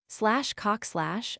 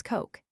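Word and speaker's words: Koch: / cock / a common German name, has very hard sledding in America. Its correct pronunciation is almost impossible to Americans. At best it becomes coke.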